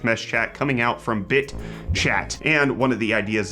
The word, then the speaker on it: bitchat: It's encrypted, it's peer-to-peer, and it's called BITchat. BITchat. BITchat. Even though it's one word, please don't pronounce it the other way. That's going to be a bad time for everybody.